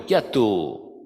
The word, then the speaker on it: chiattu: is in Napolitan is chiattu, which is worst. It's much worse, because just that accent on the O, with the accent on the O, chiattu, yes.